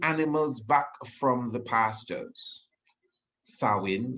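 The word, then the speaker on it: Samhain: back from the pastures sawing it's pronounced it's spelled actually s-a-m-h-a-i-n-a but is also thought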